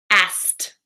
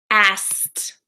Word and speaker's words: asked: the easiest way and the trick for this word is to pronounce it like ass a SS T asked asked asked okay so say